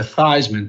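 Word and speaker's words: Theismann: Roger Valderi changed thought it would be better to have to change his name to Thyman to rhyme with Heisman for public relations reason.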